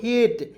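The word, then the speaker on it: hate: दोस्तों हेट अब देखिए एच ए टी रहता तो इसे पढ़ते हैट लेकिन अंतिम में ई आ गया तो इसका उच्चारण एट के रूप में करेंगे एक ही एकले लगाएंगे ई आएगा तो एक एकले ई नहीं आएगा तो दो एकले समझ गए बातों को उसके बाद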